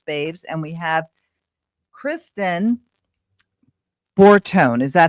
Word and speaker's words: Bortone: Close. Yeah, it's Borton. My husband's Italian, but it looks like Borton. I should know that because I'm part Italian, but I didn't know if you pronounce the E like that.